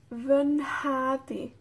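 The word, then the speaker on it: fy nhad: Y la mutación nasal, el t cambia a nh.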